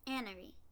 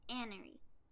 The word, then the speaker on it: Anari: Annery. That's how you say her name. Annery.